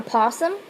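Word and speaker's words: opossum: A possum. A possum has a pouch. The O is silent.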